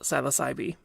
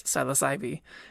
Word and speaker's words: Psilocybe: called Psilocybe, and yes, apparently the E at the end is not silent, although I wish it was. If you go to the Wikipedia page for the genus Psilocybe, you can see the pronunciation listed as capital S-Y, lowercase l-o-h, capital S-Y, lowercase b-e-e.